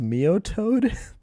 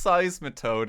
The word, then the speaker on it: Seismitoad: pronounce that Pokemon's name says Mio toad oh it's Seismitoad isn't it look I say art